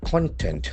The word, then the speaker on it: content: Whereas for noun meaning, the accent falls on the first syllable.